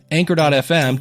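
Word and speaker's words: Anchor: So, starting a podcast or if we actually used the company that rhymes with canker that everybody loves, Anker.fm.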